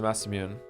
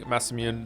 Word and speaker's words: Masamune: There are none alive who can mend the mass immune. It'd be great if you kept pronouncing Masamune the way you have been pronouncing Moon as Mune?